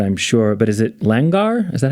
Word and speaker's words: langar: when doing some research here I'm going to mispronounce it I'm sure but is it langar is that how you say it lunger yeah yeah and I wondered about like so